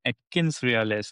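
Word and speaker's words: AtkinsRéalis: So many buzz word and is currently the AI hard and uh of this company called Atkins Realis. I don't know if I'm pronouncing the right.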